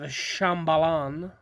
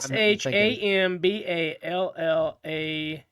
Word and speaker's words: Shambhala: City of Shambhalan. That's not how you pronounce that at all, probably. I'm Shambhala.